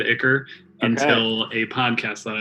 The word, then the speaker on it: ichor: through this thing, splatters of this disgusting black ichor just splats into How'd the you air. pronounce that? Ichor? Isn't it Icar? Look that shit I up. think I say Ichor as well, but it's Icor.